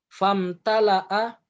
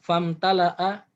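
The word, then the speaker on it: فَامْتَلَأَ: Famtala'a, itu ada alif yang disebut dengan hamzatul wasol, dibacanya nyambung. Famtala'a qob, ya, famtala'a qabruhu, famtala'a qabruhu naron.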